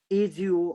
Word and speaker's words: ago: Actually, we have the culture of speaking AGO or spelling out as you're pronouncing AGO, ago, but actually its real pronunciation is ago.